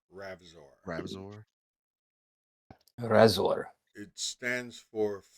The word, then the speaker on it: Ravzor: Is Ravzor. Behind Chuck Norris' beard, It's Spell it, please. there's not a chin. R It's A another V fist. Z O R. Ravzor.